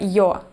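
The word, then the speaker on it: Ё: This is the letter Yo, and to pronounce it, say New York, and then catch this sound between Y and O.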